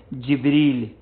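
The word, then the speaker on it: جبريل: वो कुरान में तीन मर्तबा इस्तेमाल हुआ है जिब्रील सही है ना जिब्रील अच्छा यहां पर जो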